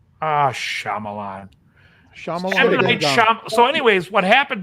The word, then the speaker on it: Shyamalan: is I who he's Indian you guys aren't pronouncing it right even me yes Shyamalan ah Shyamalan shamalan sham so anyways what happened during the movie